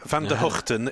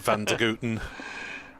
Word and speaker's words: Van der Hoogten: There is some disparity. Van der Hoogten is the more correct Dutch pronunciation, but since he was brought up in Australia, he gets quite a lot of Van der Houten.